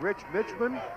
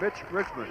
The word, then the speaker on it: Mitch Richmond: his tournament including us he's been called rich Richmond Milt Richmond and it's Mitch Richmond I'm going home in